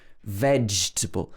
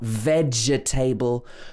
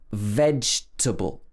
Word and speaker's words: vegetable: We stress the veg, veg, v-edge, and the middle of the word is contracted, vegetable. So we don't say the letter E in the middle of the word. It's not vegetable, vegetable. It should be vegetable, vegetable.